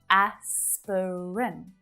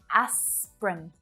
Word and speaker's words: aspirin: So this is another example where it really looks like there should be 3 syllables, right? Aspirin. It's just 2. Aspirin. Aspirin. So it's always pronounced this way.